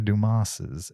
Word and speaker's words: Dumas: film based on Alexandra dumas's night 1844 The Three Musketeers is that a book yes and the S is silent Duma The Three Musketeers no